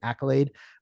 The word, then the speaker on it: Akylade: name of my company, Accolade. Accolade is spelled a little weird. It's AKYLADE. And the reason that is spelled weird and not like accolade, like applause, right, is because I want to be able to trademark the name.